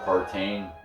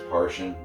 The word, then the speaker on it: Partain: I think that's how you pronounce that, or Partain. I think it's Parshin, like a Martian, but with a P.